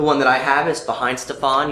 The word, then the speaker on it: Weihenstephan: The one that I have is Weihenstephan. You'll also hear it pronounced Weihenstephaner, or Weihenstephan, or Gwen Stefani. Any number of those will work. People know what you're talking about.